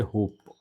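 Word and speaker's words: hope: जैसे कि एक वर्ड ले लेते हैं आपको समझाने भर के लिए, जैसे होप, तो हम लोग यहीं तक प तक जाके बात ख़त्म हो जाती है, इसको तो हम पढ़ ही नहीं रहे हैं।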